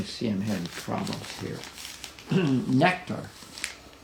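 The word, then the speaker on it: Nektar: him have problems here nectar and that's spelled any n-e-k-t-a-r is uh it was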